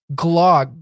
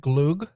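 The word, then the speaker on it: glögg: Glog. Glog? Is it glog? I know the accent over the O means you pronounce it differently. It's like glug or something.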